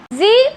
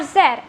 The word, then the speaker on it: Z: mothers on this Earth Z or Zed both are correct but the only difference is z is the American way of pronouncing the letter whereas Zed is the